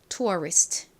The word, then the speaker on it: tourist: 실제 미국식 발음은 리 발음이 납니다. tourist.